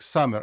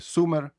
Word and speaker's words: summer: Summer літо прочитаєте як summer, а не сумер.